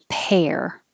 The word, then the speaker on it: pair: these sound the same pair when it's the the vowel is air like head pair we are a great pair but that's the fruit